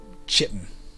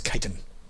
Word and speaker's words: chitin: I believe that's how you pronounce that, chitin. In my childhood, I would have called it chitin. Or in my childhood, I would have called it chitin. But apparently it's chitin.